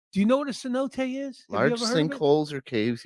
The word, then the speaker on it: cenote: ever pissed and look c-e-n-o-t-e it's a cenote that's how they pronounced it is it is